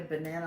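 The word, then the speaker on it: banane: songs have the word banana in it the the french word for banana a banana is banan and it's fun to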